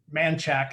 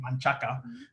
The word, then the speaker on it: Manchaca: Manchac instead of Manchaca, Yeah.